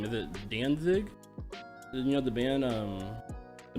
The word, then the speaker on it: Danzig: Is that how you pronounce it? Well, yeah, I know it's Danzig, but I don't listen to them because Are they German or something?